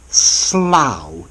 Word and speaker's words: Slough: okay let's look at Slough to start with rhymes with cow now how so firstly